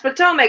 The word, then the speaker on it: Potomac: in he's like mom it's not pronounced Potomac it's like Tom what are some [